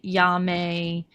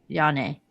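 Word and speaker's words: Janne: But cuz it's Swedish, it's pronounced Jan E. Jan E., okay.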